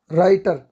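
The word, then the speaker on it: writer: राइटर डब्ल्यू यहां पे silent है।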